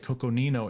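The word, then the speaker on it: Coconino: uh coco nino i gotta say it right coco nino arizona half acre property here is thirty two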